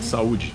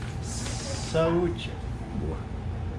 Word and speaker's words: Saúde: Saúde. Saúde.